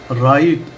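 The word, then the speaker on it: right: राइट मना ठीक।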